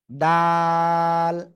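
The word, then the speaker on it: د: যে এটা কি অক্ষর দাল জিহ্বার আগা উপরে দুই দাঁতের গোড়ায় লাগাবেন লাগিয়ে উচ্চারণ করতে হবে তিন আলিফটা নিয়ে এক দুই তিন দাল এই দাল অক্ষরটা আপনি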